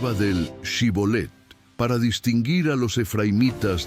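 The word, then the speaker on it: shibboleth: Los efraimitas, por su dialecto, no podían pronunciarla correctamente y decían sibolet.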